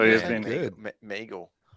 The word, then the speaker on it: Miguel: Meagle. Meagle, is it? It's Miguel, right? It's definitely Miguel. Yeah. It's because in Sweden it's me. Whatever. It's Meagle in Sweden. That's how you pronounce it.